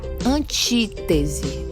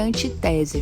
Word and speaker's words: antítese: E a antítese, certo? Antítese, não é antitese, viu, gente? Muita atenção na pronúncia dessa palavra.